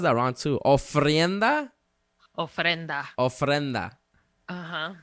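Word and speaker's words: ofrenda: keep saying no friend that okay I always pronounce that round too oh frienda oh frienda uh-huh o f r e n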